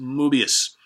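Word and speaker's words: Möbius: It looks like Mobius, but M-O with the little things on top of it, B-U-I-S, Strip. I think it's pronounced Mobius.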